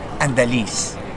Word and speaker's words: Andaliz: My full name is Andaliz. So yun dapat yung pag-pronounce ng last name ko.